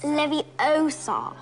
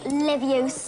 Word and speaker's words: Leviosa: I can totally relate you're saying it wrong it's Leviosa not Livius are you doing then